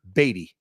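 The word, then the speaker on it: Badie: B thank you so so a year ago he was asked for the pronunciation it's on film you can find it on YouTube one year ago at the end of last season when he had his breakout day it was Tyler batty that's what he said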